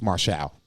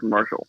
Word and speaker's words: Marshall: ass beat no it's marshall that's how you pronounce his name it's m a r martial it's like that movie we are marshall right no it's marshall it's just marshall it's like marshall faulk right dude it's like